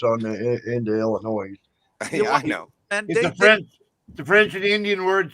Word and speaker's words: Illinois: yeah you go to Illinois and say Illinois someone's gonna jump your ass for say putting that s on into Illinois know French and Indian word so you don't pronounce the S just like just like